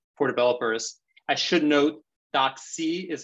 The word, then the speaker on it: DocC: I should note, DocC is how it's pronounced. Not to be confused with the word doxy that ends in XY, which means lover or mistress.